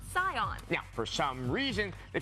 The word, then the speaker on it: Saiyan: to the sion matter when you romanize japanese something spelled sa iya n is pronounced scions yeah for some reason